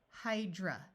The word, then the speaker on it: hydra: Cyber, ER says hyper, lying, hydra. Notice that A at the end of a word usually schwas to a muffled sound. That's why it's hydra.